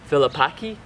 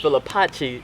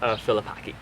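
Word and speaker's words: Filipacchi: so it's not pronounced Philipi it's this has like a different pronunciation when you're reading it in French so since she's French is pronounced philipak yeah this book was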